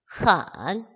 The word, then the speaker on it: 很: 근데 n이니까 근데 앞에가 h니까 헌이라고 발음을 하시면 됩니다. 헌, 삼성이에요.